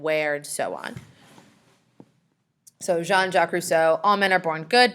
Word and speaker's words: Jean-Jacques Rousseau: foreign rights and then jean-jacques Rousseau is how you say his name not Jean Jackie Brousseau or however you would want to say it jean-jacques Rousseau he's French he is